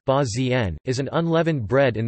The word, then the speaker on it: البازين: Bazin Arabic, al-bazin pronounced ba-z-n, is an unleavened bread in the cuisine of Libya prepared with barley, water and salt.